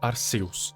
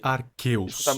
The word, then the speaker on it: Arceus: também, é claro, do Arceus ou simplesmente Deus. A propósito, eu sei que os nomes se pronunciam giratina e Arqueus, mas eu não tô nem aí. Para mim, Giratina e Arceu são mais legal.